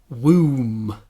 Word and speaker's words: womb: It's not like woman. It's a different sound. Woman is the like the put sound, but womb.